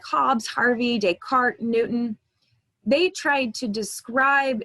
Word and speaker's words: Descartes: invented fifteen hundred sixteen hundred seventeen hundred rene descartes it's probably a name you've heard before it's pronounced descartes he was a french philosopher and mathematician he